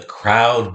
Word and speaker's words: crowd: R, ow. Oh? Did you get multiple letter phonogram? Ow, the ow of cow. O, the O of snow. The cow is in the snow.